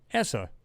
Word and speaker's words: ESA: like we have in NASA, ESA, or ESA, depending on how you want to pronounce it.